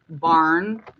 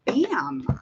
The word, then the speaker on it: Bam: the world actually sees barn barn or bam i think it's bam i literally butchered his name this poor guy okay it's bam i'm so terrible i called him barn girl i gotta get it together his name is bam not barn oh lord okay i'm